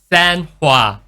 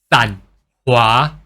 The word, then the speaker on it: Sanhua: So people will just call her SanHua. But this san is actually pronounced as sun, but with lower pitches. SanHua.